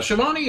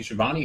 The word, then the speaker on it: Schiavone: Schiavone, I thought, was an excellent announcer.